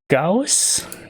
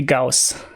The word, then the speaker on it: Gauss: yeah uh ghost ghosts i'm not sure how it's pronounced in english but since he was a german as far as i know it should be gauss does notice that if